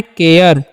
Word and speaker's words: care: अब जो है CARE, तो इसे सारे नहीं पढ़ना है, इसे पढ़ना है केयर, ठीक है।